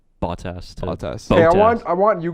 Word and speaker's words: Bottas: Botas. No, stop it. We had a pretty good comment. Somebody was mentioning the way Shaker pronounces Bottas. Bottas.